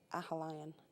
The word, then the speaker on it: Aughalion: Our townland is Ahalion. It's spelled Aughalion.